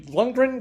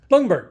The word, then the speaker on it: Lundberg: Oh, a wild rice blend, which was actually a Lundgren, or how do you say it, dear? Lundgren. Yes. Lundberg. That's right.